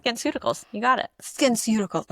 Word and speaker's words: SkinCeuticals: As I can't even pronounce the name, Skin Cuticles. SkinCeuticals.